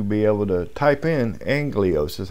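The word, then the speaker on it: ἄγγελος: I need to be able to type in anglios is how it's pronounced a-g-g-e-l-o-s is transliterated a g g e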